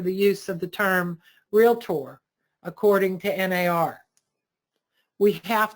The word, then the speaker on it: Realtor: And it's not Realtor. You don't go to the Docketor. It only has two syllables. Realtor.